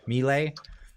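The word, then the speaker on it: Milei: like Argentina with uh uh is how he pronounced his name Xavier Mele he's uh the new guy yeah he went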